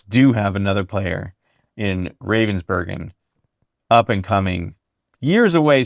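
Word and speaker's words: Ravensbergen: You said Ravensburgen, not Yes. Ravensburger. Thank you.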